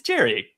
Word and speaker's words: Gerry: It's Gerry. Well, Gerry Duggan. It's a soft G for the Gerry, right?